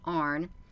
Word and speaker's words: An: is the males, and it's spelled A-N and it's pronounced Arn.